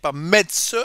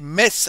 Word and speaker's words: Metz: to say it correctly we don't say Metz but Metz a priori me I